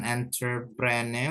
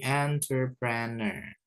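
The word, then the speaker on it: entrepreneur: gak dibaca guys yaitu huruf u di belakang gak usah dibaca bukan entprene ya tapi entreprene repreneentreprene Arya pengusaha huru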